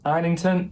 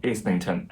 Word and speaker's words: Islington: It is Islington, not Islington, as I watched an Instagram reel by him.